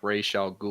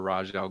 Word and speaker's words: Ra's al Ghul: So like there's another Batman villain called like Ra's al Ghul or Raj al Ghul, Ra's al however you want to Ghul.